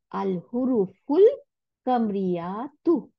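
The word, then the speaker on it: الحروف القمرية: তাহলে আল হুরুফুল কামরিয়াতু, দেখছেন? তাহলে আলের এই হামজাতুল ওয়াসলটা এখানে উচ্চারণ হয়নি, যেটা আমরা একটু আগে দেখলাম।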